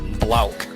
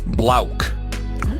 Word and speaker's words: Blauk: But what's coming up next after that is Blauk. It makes no sense when I say it, but it's spelled like the word black, but it's pronounced Blauk.